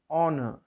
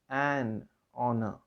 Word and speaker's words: honor: Honor. The spelling is Honour. H is a consonant letter, but when you pronounce it, it begins with a vowel sound. So it is imperative to use an honor, not a honor.